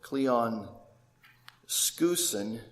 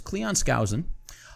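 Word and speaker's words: Skousen: book by an ex FBI agent in 1958 Cleon scen Cleon scen actually that's not the correct pronunciation it's Cleon scowen uh I am uh a fan of scow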